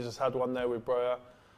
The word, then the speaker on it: Broja: They nearly just had one there with Broja. If that's how you say his name, I forgot. Yeah, that is how. Broja.